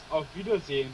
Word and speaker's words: Auf Wiedersehen: I want to make sure I get my pronunciation right. No, it is Auf Wiedersehen, but you can if you say good night, it's Gute Nacht.